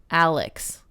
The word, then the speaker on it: Alixe: Her name is spelled like Alixe. Alex.